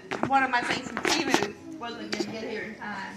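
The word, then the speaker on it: Temu: Is that how you pronounce that? Timu? Timu, yeah.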